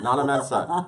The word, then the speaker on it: Nana Mensah: Okay, Nana from Ghana, Mensah. Nana Mensah. I'm sorry I said that so many times. But right before we started, she said that's an easy way to say my name.